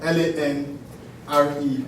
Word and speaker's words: Lanre: L-A-N-R-E. Pronounced Lanre.